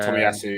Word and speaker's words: Tomiyasu: Yeah, Tomiyasu.